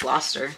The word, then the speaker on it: Gloucester: Dr Foster went to I guess it's Gloucester because it rhymes I believe this is